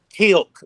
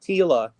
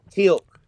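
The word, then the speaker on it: Teal'c: Tilk. Not t not tila. Tilk.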